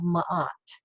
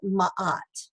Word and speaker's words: ma'at: was the concept of ma'at ma'at is spelled m a and there's a little apostrophe a t so it's like matt but ma'at okay and ma'at is the